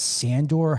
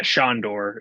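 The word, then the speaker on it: Sándor: and then we've got is that sandor helderman yeah shandor yeah is how it's pronounced yes um yeah they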